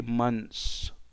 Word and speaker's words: months: but if it's plural drop the thir okay and settle for the SAP so it's going to be months so how many months